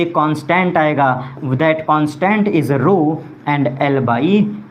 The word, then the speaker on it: rho: ये जो proportional symbol रो है इसको अलग से लिख दे रहा हूँ, रो RHO, here H is silent, और पढ़ते हैं इसको रो, ठीक है।